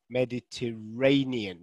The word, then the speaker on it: Mediterranean: ray so it is it's on the fourth syllable um so i can just annotate on here uh let's i can draw mediterranean so it's actually this syllable here which i've underlined so we've got a six-syllable word with the stress on the fourth word okay mediterranean the mediterranean